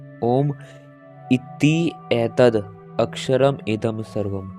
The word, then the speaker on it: ओम: उच्चारण की दृष्टि से ओम में 3 ध्वनियां हैं, अ, उ तथा म।